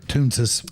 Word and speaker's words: Toonces: As soon as I saw that, I was like, wait, am I even pronouncing that correctly? Yeah, yeah, you are Toonces.